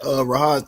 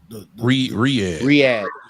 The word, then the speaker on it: Riyadh: Back to that Rahad thing. Ain't that how you say it, Rahad? Who? Riyadh. Oh, Riyadh. Yeah, Riyadh.